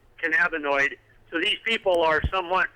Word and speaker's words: cannabinoid: They pronounce it cannaboid instead of cannabinoid.